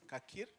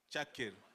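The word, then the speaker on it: Çakır: I don't know if the second pronunciation is Kakir? Chakir. Chakir.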